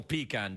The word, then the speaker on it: pecan: Yep, it's National Pecan Day today. It is. Oh, it's a real day, National Pecan Day. It's pronounced pecan or pecan.